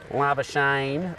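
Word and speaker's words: Labuschagne: the south african uh lava shane rhymes with champagne yes that's his wife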